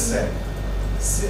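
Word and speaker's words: Seine: The name of the river is Sen S E I N E pronounce S.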